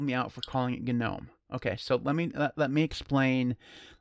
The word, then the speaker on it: GNOME: Okay, so that's why we pronounce it GNOME. Now, if you do pronounce it with a silent G, that's fine.